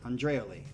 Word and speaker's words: Andreoli: in the band now, Felipe Andreoli is how you say it fast. Okay. Nice little transliteration there. He actually wrote Andre-O-Lee. Andreoli. I think it's how you say it. Felipe Andreoli. It sounds almost like Italian.